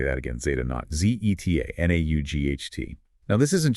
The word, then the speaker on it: Zeta Naught: Z0, and it's pronounced Zeta Naught. Let me say that again, Zeta Naught, Z-E-T-A, N-A-U-G-H-T.